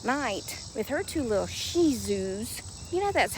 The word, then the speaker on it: Shih Tzus: She said when she comes out late at night with her two little Shih Tzus, you know that's how it's pronounced. The T is silent.